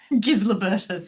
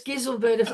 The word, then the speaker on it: Gislebertus: Made me want to immediately go away and learn how to pronounce Gislebertus, if nothing else. Giselbertus. I think either works.